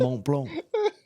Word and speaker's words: Montblanc: So he oversees iconic brands like Cartier and Montblanc. Mont Blanc. That is how you say It's that.